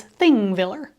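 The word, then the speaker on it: Þingvellir: is the visitors center the first letter on the sign that looks similar to a p is pronounced like th in Icelandic so this is thing Viller The Visitor Center has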